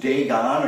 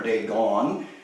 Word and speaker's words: Dagon: a god called Dagon pronounced Dagon or day gone but it's spelled in